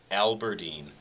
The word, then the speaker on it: Aberdeen: Yeah, I think it is pronounced Aberdeen.